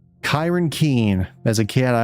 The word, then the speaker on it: Ciarán: It's Oh, it's pronounced Kyron. So, it's Kyron. Kyron Keen.